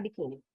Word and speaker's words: biquíni: Se eu não acentuar biquíni, essa palavra ela ia ficar como biquíni. Então eu preciso, ó, fazer isso aqui, ó. Biquíni, certo? Senão fica biquíni.